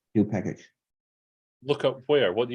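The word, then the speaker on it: nupkg: unfriend me now but i'm i'm sticking with new package sorry it's yes that's like it's if you if you if you look up the pretty imagination of that word it says new package look up where what do you mean what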